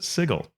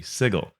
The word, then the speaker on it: Sigil: was produced and that also calls it sigle uh I also spoke to a 5e staff member that said there's another source book that provides that pronunciation breakdown and makes it the sigal so it's seems like